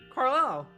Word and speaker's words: Carlisle: As an isle, like island. Carlisle.